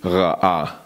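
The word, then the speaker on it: רעה: So the thing with this word, pasturing or shepherding, is that in the Hebrew it is ra'ah. Ra'ah. And it is spelled different, but it sounds the same as the word evil.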